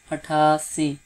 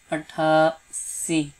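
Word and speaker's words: اٹھاسی: 88, athasi, hard sound, athasi.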